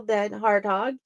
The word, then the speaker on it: DenHartog: types of books welcome to the show dead harthog you are an impressive author thanks Jenny U